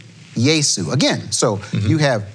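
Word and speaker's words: Iesu: The Latin Vulgate in chapter 1, verse 1 would be Yesu, capital I-E-S-U. Yesu. Again, so you have Yesu chapter 1, verse 1 in Greek.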